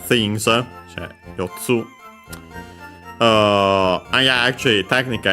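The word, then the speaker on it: 四つ: So yeah, Yotsu, accent on the Tsu again.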